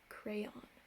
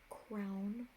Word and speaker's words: crayon: on very phonetically crayon crown or crayon i think no one there are four ways there's two two syllable ways and two one silver ways i know for your